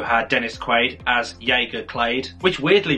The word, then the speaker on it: Clade: had Jake yelin Hall as Searcher clade that's at least the pronunciation that I go with based on videos that I've seen on the internet and I felt researcher